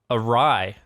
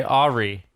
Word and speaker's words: awry: Awry. AWRY. Okay. Apparently, some people say Ari.